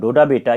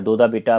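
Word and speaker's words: Doddabetta: तो ये जो पहला आप देख रहे हैं नीलगिरी, इसकी सबसे ऊंची चोटी डोडा बेटा या दोदा बेटा आपको मिलेगा कहीं भी। इसका प्रोनाउंसिएशन जो भी आप कहें, डोडा बेटा या दोदा बेटा।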